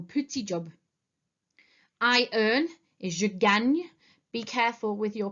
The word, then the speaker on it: je gagne: It is je gagne. Okay, if you remember how to say Spain in French, it's Espagne. It has the same spelling and therefore the same sound.